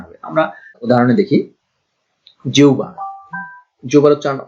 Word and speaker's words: জিহ্বা: আমরা উদাহরণে দেখি, জিহ্বা, জিহ্বার উচ্চারণ হচ্ছে, অনেকে এটা উচ্চারণ করে জিব্বা বা জিহব্বা, আসলে উচ্চারণটা এরকম না, হ উচ্চারণ হবে না, ভ উচ্চারণ হবে না, বফলা উচ্চারণ হবে না, এখানে হয়ের ব এর পরিবর্তে হয় উ না হলে উ উচ্চারণ হবে।